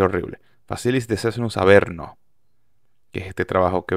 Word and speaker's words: Facilis Descensus Averno: disco que se llama facilis de cnus avernus lo pronuncié horrible facilis de cnus a verno que es este trabajo